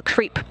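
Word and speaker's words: KREEP: a weird component that we call creep and it's spelled k r e e p and Central potassium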